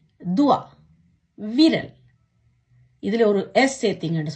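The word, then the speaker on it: doigt: தே ஓ இ ஜே தே துவா, விரல்.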